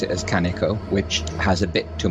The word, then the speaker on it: Kaneko: down a lot and the stress on uh kaneko it should be more or less flat i believe right well i must